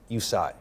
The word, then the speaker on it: USIGH: And the acronym is USIGH. Spell it. The letter U and the word sigh, S-I-G-H.